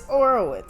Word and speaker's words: Orowitz: It's Orowitz. Someone said it wrong.